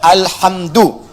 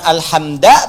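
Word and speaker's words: الحمدُ: Dibacaannya alhamdu, bukan alhamda pakai fathah atau alhamdi pakai kasrah. Ya, apa bacanya? Du, alhamdu pakai dhammah. Jadi kalau dibaca dalam salat, jangan baca menggunakan fathah alhamda atau kasrah alhamdi, tidak.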